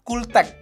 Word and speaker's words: Cuktech: brandnya tulisannya adalah cuk cuktek c u k t e c h tulisannya sebenarnya ini tuh eh bacanya kalau kata orang brandnya ini adalah cultek jadi k-nya itu enggak kebaca jadi kek salah lagi kalau